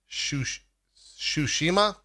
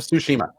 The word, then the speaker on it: Tsushima: Hey, did you guys watch that Ghost of let's say it correctly, Tsushima? Is that right? I think that's right. Did you guys watch Ghost of Tsushima?